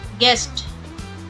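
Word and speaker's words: guest: गेस, गेस, गेस्ट, गेस्ट। W silent, wrong, wrong.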